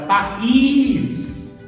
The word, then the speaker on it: país: Agora, país é a última sílaba forte, que é o quê? Oxítona, tá? Então, a última sílaba forte, país, eu vou mudar para países.